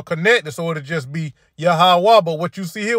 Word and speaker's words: Yahweh: It's Yahweh. All right. Not Jehovah. Not Yahovah. All right.